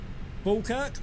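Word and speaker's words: Falkirk: Fulkerk. Falerk. Fulkerk. It's pronounced fulkerk.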